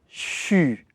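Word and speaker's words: 吹: avez les dents serrées le son que vous devez prononcer se situe entre le SH U et le X u CHU ce cette façon de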